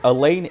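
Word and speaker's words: Alain: uh Elaine it's it's Elaine a l a i n uh I keep saying Elaine and it sounds like I'm saying like the girl name Elaine I mean cuz it's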